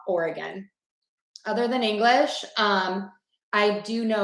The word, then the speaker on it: Oregon: Okay, for the state, Oregon, that E is going to be a schwa, the Oregon.